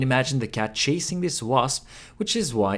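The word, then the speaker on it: わ: Wa, wa is pronounced like wa in wasabi.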